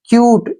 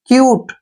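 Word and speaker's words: cute: भी ठीक है ना लास्ट में ई आए तो उसका उच्चारण नहीं करना है जैसे ऊपर हमने किया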